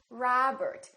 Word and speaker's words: Robert: It's not Robert, it's Robert.